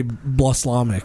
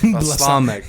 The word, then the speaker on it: balsamic: You used to say blaslamic. Balsamic.